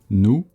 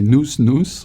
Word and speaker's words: nous: You don't want to say nous. Even if you do want to say it, don't say it. Nous, the S is silent.